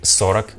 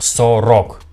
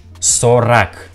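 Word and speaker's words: сорок: letter or or but we pronounce this sound like ah do you hear like i pronounced not so rock i pronounced sorak so rak therefore we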